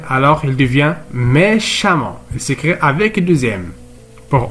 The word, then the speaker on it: méchamment: violon il devient violemment violemment eux on ne prononce à méchant il devient méchamment alors les adjectifs qualificatifs qui se termine par